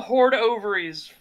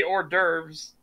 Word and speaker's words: hors d'oeuvres: really does like call them hoard ovaries who cares people that will realize you're trying to say hors d'oeuvres i don't care god that was my favorite thing of like when someone sees how it's spelled they try to say it we'll have some horde ovaries uh french your language